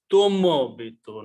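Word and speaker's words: تُنبِت: the other 3 letters, tun bitu. Tun bitu, which will be pronounced as tum bitu, not tun.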